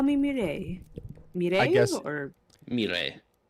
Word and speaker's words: Mireille: Please, call me Mireille. Mireille I guess- or Mire. Mireille? Yeah, roll the R's.